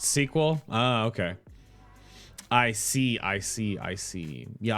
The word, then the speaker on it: SQL: Oh, SQL is pronounced sequel?